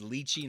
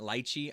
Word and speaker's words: lychee: my pronunciation right now it's lychee not light Chee I say light she